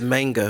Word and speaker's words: manga: chick up for Disney so if you think of that Boy Meets World Topanga it is manga it's manga but he